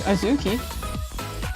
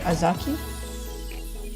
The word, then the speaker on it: Azuki: It is phonetic, I guess. I feel like it's phonetic. It's just Azuki. I really can't think of another way to pronounce it. Azaki?